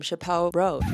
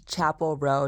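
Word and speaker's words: Chappell Roan: everyone is craving um Chappelle r as you can tell I have no idea who these people are it's Chapel row not Chappelle r I'm so sorry I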